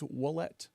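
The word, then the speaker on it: Ouellette: It always sounds like a W, I guess.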